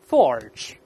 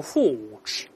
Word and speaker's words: forge: 那大声来念，forge， forge。但英国人、澳洲人都用 forge，它没有这个卷舌音就好了。